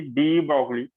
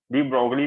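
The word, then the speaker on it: de Broglie: थी वो पढ़ी थी डी ब्रोगली इक्वेशन है। डी ब्रोग इक्वेशन भी बोलते हैं, डी ब्रोगली भी बोलते हैं, अपने हिसाब से जो भी आपको इसको प्रोनाउंस करना होगा कर सकते हो।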